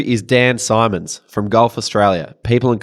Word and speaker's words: Simons: Number 2 is Dan Simons from Golf Australia, People and Culture Manager. Not Simmons. Not Simmons.